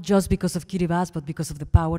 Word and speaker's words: Kiribati: the South Pacific that's called Kiribati or Cuba's if if you pronounce it correctly that made a change